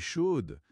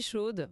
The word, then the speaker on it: chaude: "Ah ouais, je suis chaude." Ça montre direct ton envie, ton énergie. Hm hm. C'est très direct. Oui. Et attention à la prononciation au féminin, le dé Oui.